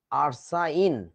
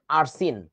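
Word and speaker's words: arsine: হবে তো তাই না আরসাইন অথবা আরসিন এখন দেখ ভাই দুইটা নামই তো উচ্চারণ হওয়া উচিত ছিল দুইটা উচ্চারণই তো সঠিক হও উচিত ছিল আরসাইন অথবা আরসিন কিন্তু বাংলাদেশের বইতে লেখে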